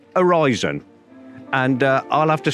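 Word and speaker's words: Aryzon: a-r-y-z-o-n Tommy pick pronouncing arson and my cameraman tells me it's basically Horizon and uh I'll have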